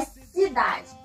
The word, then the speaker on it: cidade: Vamos separar. Cidade. Tá no dá, não é mesmo? Então, o dá é a sílaba tônica e tá na penúltima sílaba. Última, penúltima.